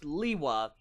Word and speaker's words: Lewa: how this works okay we know certifiably without a shadow of a doubt that it is is pronounced Lewa in very common occurrences